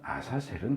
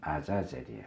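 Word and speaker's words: עזאזל: 번째로는 그러면 여기서 말하는 아사셀은 도대체 뭐냐? 이제 한글로 번역할 때는 아사셀 이렇게 했지만 원래 히브리 발음은 아자젤이에요. 아자젤.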